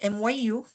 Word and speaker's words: mu: greek letter na mu ang spelling niya mu pero pagpronounce myu mu Okay si kani